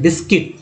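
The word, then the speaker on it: biscuit: हो गया है जो गलत हो जाता है, बिस्किट, क्योंकि यू साइलेंट है, बिस्किट में यू साइलेंट है।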